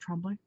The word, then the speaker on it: Tremblay: at Devil's Rock by Paul Tremblay and everybody pronounces it Tremblay but this is a very popular name in our city and it's pronounced trembling because of the French whatever so oh my